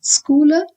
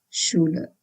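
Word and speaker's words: Schüler: So, it's not schooler, it is schuler.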